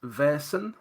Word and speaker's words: Vaesen: uh the pronunciation is Veron Veron okay imagine yeah if he imagine it's spelled v a i r s that's the way it should be pronounced I just with a